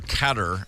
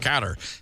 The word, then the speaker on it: Qatar: and by the way this is Qatar or catar as I know people go it's pronounced katar Qatar that's how it looks to my brain Qatar Airways said oh